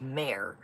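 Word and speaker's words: Mer: use what you got French for the sea Mir is pronounced mayor yes Lancome there's so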